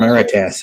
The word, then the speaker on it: Marites: Maritas, that's how you say it. Marites.